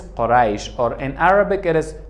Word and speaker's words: Quraysh: Quraysh, American people pronounce this Quraysh, Quraysh. But in Dari it is Quraysh or in Arabic it is Quraysh.